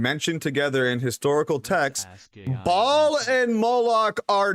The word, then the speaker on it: Baal: It is pronounced Baal.